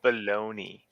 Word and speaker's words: Bologna: gotcha um this balloon Bologna Italy thing is pronounce baloney baloney Italy who wrote addicts discounted